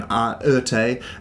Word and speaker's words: Erté: can be attributed to Oerté, and that is Romain de Tirthoff, who had the initials RT, was renamed or kind of had the nickname Oerté because of RT being mispronounced or repronounced in French, you might say.